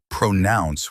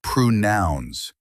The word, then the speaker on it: pronounce: The stress is on nouns, not pronounce with a long O. It's pronouns, quick and clear.